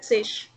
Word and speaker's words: zig: So can I pronounce 40 as the Zish? Yeah, Zish. Zish, right? Yes, because G at the end, it gives a sh sound.